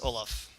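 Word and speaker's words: Ollam: Yes, the correct pronunciation is Olaf.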